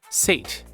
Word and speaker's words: sate: Apparently the word is pronounced sate, and it means to satisfy a desire or appetite to the full.